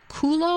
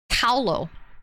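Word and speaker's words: Kahlo: Is it Kulo or how do you say her last name? Freda. Kulo means butt. So, it's not Kulo, but it's Ko. K A H L O.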